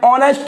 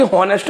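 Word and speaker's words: honest: तो कैसे बोलते हैं, ऑनेस्ट, हा को साइलेंट करके बोलते हैं, ना कि हॉनेस्ट बोलते हैं।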